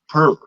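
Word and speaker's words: πῦρ: Now they pronounce it in the Greek pur, but it's fire.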